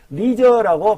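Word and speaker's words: leisure: 병렬이죠 이렇게요 같도록 좀 더 많은 여가 시간을 리저라고 발음합니다 우리는 기대에 되어집니다 할 거라고 그것들을 어떤 그것입니까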